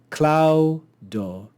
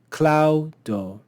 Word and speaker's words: claudo: Here we see claudo, claudo. Here we see kogo, kogo. The first syllable of any two-syllable word will be accented.